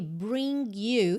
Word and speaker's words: bring: Esse G, ele pode ou não ser pronunciado, depende um bocado do que eu tenho depois. No caso aqui, bring you, eu posso juntar bring you. Tá?